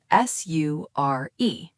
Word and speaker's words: sure: It sounds like it starts with SH, but it is spelled with an S. S-U-R-E.